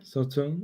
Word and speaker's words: Sauternes: Same goes with Sauterne, I guess. Did I pronounce it right? yeah. Sauterne. It was Oh, pretty good.